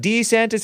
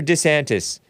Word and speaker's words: DeSantis: such as D santis did he used to call it D santis or DeSantis his wife made him change his pronunciation that's what I heard